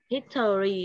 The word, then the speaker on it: history: Rồi, thì thực ra cái chữ O nó không cần đọc đâu. Em đọc là history nhá, thì nó đọc nhanh history. Được chưa?